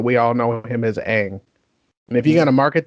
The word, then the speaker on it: Aang: The live action where they call him Ong.